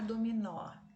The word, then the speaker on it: dominó: Gosto de jogar dominó. A última sílaba é a tônica, portanto é oxítona, terminada em O. Então, acento nela também.